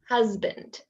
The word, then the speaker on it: husband: So often Spanish speakers will pronounce them as if they're the s sound. For example, husband, reason, cousin. I hope you can hear why that's not correct. So these words make a z sound.